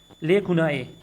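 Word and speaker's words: lacunae: लेकुनाई, ये इस तरह प्रोनाउंस होता है, लेकुनाई।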